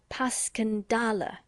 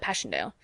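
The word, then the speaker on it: Passchendaele: it up and it's more like pascandala bless you all the tommies call it passchendale just as they're called ipra wipers how interesting you know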